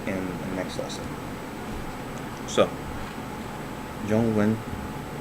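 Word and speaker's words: zhōngwén: will be taught in the next lesson so jung wen spelled z h o n g w m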